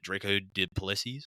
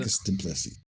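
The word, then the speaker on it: Dricus Du Plessis: Will it be, what is it, Draco Duplessis? Is that how you pronounce it? Dricus Duplessis.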